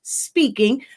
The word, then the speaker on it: Spinking: We are also the home of Honestly Speaking, and that's SPINKING. It's a play on words, but you pronounce it speaking, because you know your